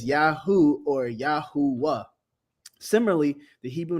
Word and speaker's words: Yahuah: When it was pronounced in three syllables, it will be pronounced as Yahuah, as in Yahowah, or Yahu, Yahoowah.